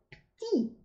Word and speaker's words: petit: Например, прилагательное «пти». Маленький. Чаще всего его произносят «пти».